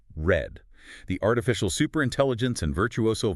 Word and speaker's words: R3D: Prepare your sensory processors for R3D, yes, that is pronounced red.